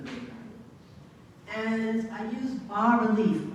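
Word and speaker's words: bas-relief: And I use bas relief. Bas is a French word, so you don't pronounce this.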